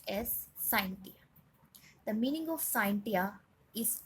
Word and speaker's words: scientia: The word science has been derived from the Latin word pronounced as scientia.